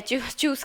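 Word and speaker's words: tschüss: इसको देखिए क्या है, चूस का उच्चारण है चूसना, जैसे हिंदी में हम लोग बोलते हैं चूस, एकदम ऐसा ही। इसको ना तो ज बोलना है ना जो बोलना है, इसको चूस बोलना है, चूस।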